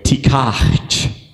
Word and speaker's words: tikach: It's actually pronounced, and this is so hard for me, but tikach.